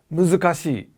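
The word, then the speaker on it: 難しい: That's because the word for purple is murasaki, and the word for difficult in Japanese is muzukashi. 4 syllables, yeah?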